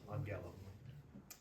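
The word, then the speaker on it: ἄγγελον: when two gammas are together, you get that N sound, Yeah. angellum.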